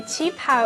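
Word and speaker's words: qipao: do you say that word again a chi pow is a traditional chinese dress lunar new year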